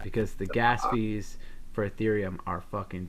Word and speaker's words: Ethereum: much okay one there's an arithium uh uh no ethereum sorry why do i say it like that there's an ethereum uh